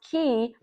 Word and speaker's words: Ki: coaching firm, which is key, spelled KI, but pronounced key, which I think is so cool.